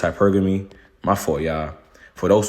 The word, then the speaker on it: hypergamy: My for y'all it's hypergamy. I've been saying it wrong. I've been saying hypergami.